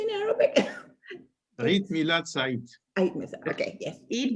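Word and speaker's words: عيد ميلاد سعيد: Eid Milad Said.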